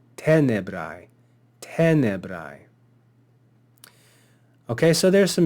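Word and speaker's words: tenebrae: And then lastly, we saw this word tenebrai, tenebrai. And if we look at the penult syllable, we see that it's common. Therefore, we'll accent the antepenult. Tenebrai, tenebrai.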